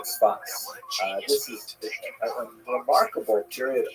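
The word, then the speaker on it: צפת: Israel city of Safed, pronounced in Hebrew Tzfat or Tzfat.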